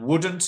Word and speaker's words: wouldn't: And wouldn't is that, wouldn't. Okay, one more time. I wouldn't left London if I stayed with the ad agency. Okay, but you need to pronounce the w as w, wouldn't.